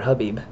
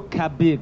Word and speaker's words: Khabib: So it's Habib, or Habib, but Habib, not Khabib.